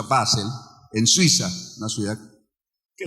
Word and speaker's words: Basel: Año 1897, en lo que hoy es, pues, Basilea, normalmente se pronuncia Basel, en Suiza, una ciudad que la gente en